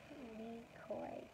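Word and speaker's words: Lykoy: How do you pronounce that? Leekoi? It's like a werewolf. Leekoi. L-Y-K-O-Y.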